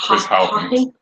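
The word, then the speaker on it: Chris Haughton: I can't pronounce it. Chris Houghton.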